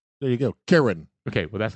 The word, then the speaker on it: Chiron: they called it ready he's gonna play it Kyron there you go Karen okay well that's not what you said okay you didn't you didn't say Karen Kyron yeah he's a Chiron I mean it's a